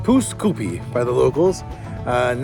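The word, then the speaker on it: Pouce Coupe: Apparently, it's pronounced poose koopi by the locals.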